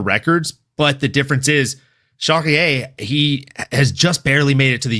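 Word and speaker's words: Charrière: Charriere. Rhymes with derriere.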